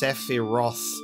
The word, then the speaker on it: Sephiroth: It's hard, because there's a PH and a TH in there, so it's like Sephiroth, but it's the other way, it's Sephiroth.